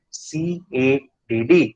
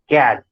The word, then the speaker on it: CADD: it is abbreviated as c a d d sometimes some people also pronounce it as cat so there is nothing